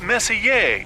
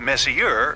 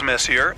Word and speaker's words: Messier: Pronounced Messier, not Messier, as in is your room messier than mine? Charles Messier, I mean Messier to be precise, was a French astronomer in the 18th century.